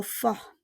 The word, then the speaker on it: fort: Adorer exprime un sentiment fort. Adorer exprime un sentiment fort. On ne prononce pas le T.